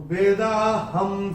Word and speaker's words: वेदाहं: पहले चरण में ह के ऊपर अनुस्वार के बाद का अक्षर है स, और अनुस्वार के बाद जब स आएगा तो अनुस्वार का उच्चारण होगा म। तो ये हम अपनी किताब में नोट करके रख सकते हैं। तो वेदाहं समतीतानि, ये ऐसे करके होगा।